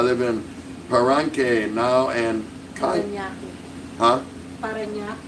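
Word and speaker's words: Parañaque: Mugs is Organic, I live in Paranque now and Paranaque. Huh? Paranaque. Didn't I say Paranaki? Oh, I think I left the syllable off.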